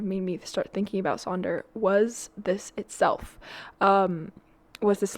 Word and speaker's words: Sonder: Pronounced Sonder, can be used as a noun or a verb, as you would use the word wonder.